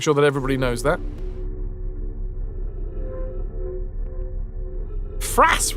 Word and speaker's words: Fras: Fras rhymes with ass.